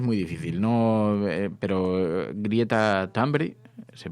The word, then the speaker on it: Thunberg: Estoy bastante seguro cómo se pronuncia, así que os doy una pista. De acuerdo a lo que dicen aquí, Greta Thunberg.